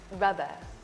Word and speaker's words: rubber: foreign word so the stress in this word is on the first syllable ramp rub and we say the second part of the word a bit softer and that'll also help it sound better so listen carefully rubber